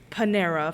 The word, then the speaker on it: Panera: We go to the Panera, which is Panera for those of you who mispronounce it.